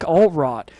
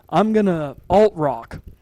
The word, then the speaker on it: Altrock: I hoped you enjoyed it as I did, and especially with Nick Altrott. Altrock. I'm guessing he's German because alt in German is spelt with A-L-T.